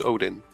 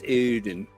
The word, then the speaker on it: Audun: Many people there thought that my name was Odin. So. Right, but it's not Odin, it's Audun.